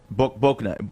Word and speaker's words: Bouknight: The Pistons' Troy Weaver reportedly really likes, is it Bouknight? Is that how you say it? Yeah, Bouknight.